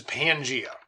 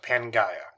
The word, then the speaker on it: Pangaea: This is Pangea, or sometimes pronounced Pangaea. Pan meaning all, Gaia or Gaia meaning goddess Earth.